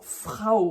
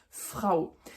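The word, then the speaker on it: Frau: le a ou qui se prononce ao ao comme dans Frao par exemple la femme Frao ça c'est les diftong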